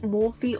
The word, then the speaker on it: Morphe: You can either pronounce it Morphe or Morph.